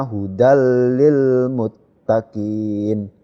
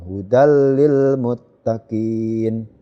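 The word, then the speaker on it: هدى للمتقين: masuk ke huruf lam jadi pembacanya hudallilmuttaqin ya maksud tetapi tidak mendengung hudallilmuttaqin intake Berikutnya ini kasrah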